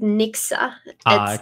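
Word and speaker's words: Nixu: work that you're doing there yeah so they pronounce it Nixa don't worry I got it wrong too my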